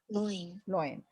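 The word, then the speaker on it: loin: इसकी pronunciation लॉइन, और उसकी लायन होती है प्रोनाउंसिएशन, उसकी देखो pronunciation, लायन, लायन, लायन, okay.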